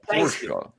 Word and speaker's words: Porsche: It's like calling somebody an asshole, but it is Porsche. It's just how you pronounce it.